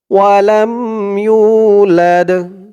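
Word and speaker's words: وَلَمْ يُولَدْ: লাম দাল জবর লাদ ওয়ালাম ইউলাদ ওয়ালাম ইউলাদ উচ্চারণটা খেয়াল করবেন লাদ লাস্টে আওয়াজটা একটু ধাক্কা খাবে কারণ দালটা হচ্ছে কল কলার হরফ ওয়ালাম ইউলাদ লাম ইয়ালিদ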